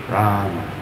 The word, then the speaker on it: Rama: If you listen to Srila Prabhupada, when he chants, you'll never hear him saying Ram. He says Ram. Very short A. Rama.